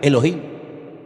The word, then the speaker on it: Elohim: Y el primer nombre que conocemos de Dios y empezamos a leer la Biblia desde el principio es un nombre que se pronuncia Elohim.